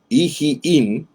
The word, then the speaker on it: Iim: En el versículo 29 aparecen 3 ciudades entre la serie de las ciudades: Baala, Iim y Esem. Este Iim o Ijiim, como se pronunciaría en el hebreo, es de la misma manera como aparece aquí también en el hebreo.